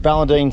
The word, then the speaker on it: Ballandean: are looking after the CP how do you pronounce it Ballentine station yes how big 12 000.